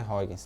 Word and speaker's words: Huygens: Fala Huygens, a pronúncia é Huygens, tá?